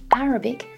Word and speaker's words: Arabic: So Arabian with a stress on the second syllable, but Arabic, stress on the first syllable.